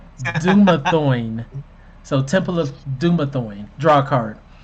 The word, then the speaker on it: Dumathoin: And then the final room of the dungeon is Temple of Dumathone. Dumathone? You draw a No, I don't card. know how to pronounce that either. It makes me think of sirloin, but it's Dumathoin.